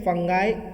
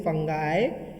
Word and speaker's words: fungi: ड्यूटेरोमाइकोटा, इसको बोलते हैं फंगाई इम्परफेक्टी। क्या बोलते हैं? फंगाई या फंजी या फंगी, जो भी आप प्रोनाउंस करना चाहें इसको, फंगी इम्परफेक्टी।